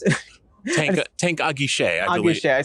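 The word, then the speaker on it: Guichet: Tank Aguiche, I believe. Aguiche. I said Guilloche. So Tank Aguiche. It's not Guilloche. Guilloche is an entirely different French word.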